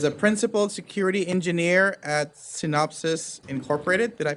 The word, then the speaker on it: Synopsys: we have Christopher Clark, who is a 22-year veteran of the information technology world, is a principal security engineer at Synopsys Incorporated. Did I pronounce that right?